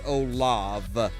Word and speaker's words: Olaf: spelled it right it's olaf it's actually it's actually pronounced okay the the the scottish pronunciation is oh love yeah i know i